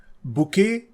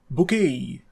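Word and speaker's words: bouquet: इस वर्ड में T silent है, इसलिए स्पेलिंग मिस्टेक हो जाती है। ये वर्ड फ्रेंच ओरिजिन का है और फ्रेंच वर्ड्स में ज़्यादातर लास्ट में आने वाले टी, डी, एस और टी लेटर्स को साइलेंट रखा जाता है, बोलते समय उनको बोला नहीं जाता। इस वर्ड की प्रोनाउंसिएशन है बुके या बुकेई।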